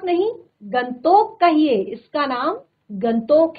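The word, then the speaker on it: गंगटोक: कहा कि तभी इतना गैंग टॉक इतना सुंदर है गैंग टॉक ही नहीं मैम गंगतोक नहीं मैम गंतोक कहिए इसका असली नाम गंतोक है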